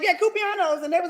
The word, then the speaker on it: cumpleaños: And Cumpleaños. yeah, that's it. And I was like, yeah, Cupianos, and they was like, okay.